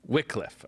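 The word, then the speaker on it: Wycliffe: I need to know how to you know pronounce this the right way okay we say wickcliff Wickliffe okay a soft ey why soft why yeah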